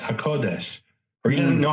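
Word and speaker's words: הקודש: But when we see with a nobody could say hakodis is is a is an insult. He just doesn't know how to pronounce hakodesh or he doesn't know how to distinguish.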